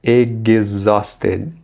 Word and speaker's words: exhausted: E na palavra exhausted, o H não será pronunciado. E o X terá um som de G e de Z. Vai ficar exhausted, exhausted, exhausted, exhausted.